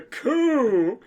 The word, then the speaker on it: coup: It's the coup. It's when we're responding to the coup d'etat. Not a chicken coop. No, not a fucking. It's spelled C-O-U-P.